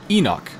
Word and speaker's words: Enoch: Enoch. That's how you pronounce his name.